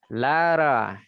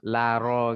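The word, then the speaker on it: لارا: nggak ngomong macam kita Laro gitu ya, sesuai dengan makhrajul hurufnya enggak. Kadang mereka bilangnya Lara gitu ya. Karena ngekor ke nama-nama non Arab. Kalau kita mau paskan pakai bahasa Arab, kita bacanya Laro.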